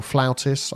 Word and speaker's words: flautist: in we need a flutist or flautist I think is the correct correct pronunciation even though it's spelled differently we're short of common